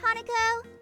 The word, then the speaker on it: Hanako: See you later, Hanako. That time you pronounced it correctly.